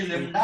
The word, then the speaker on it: lambda: हाँ वो ये लेम्डा है भाई, लेम्डा। हाँ सर ओके। ठीक है ना? बढ़ो आगे। यस सर। अब बताइए Q इक्वल टू क्या आ जाएगा? लेम्डा into L.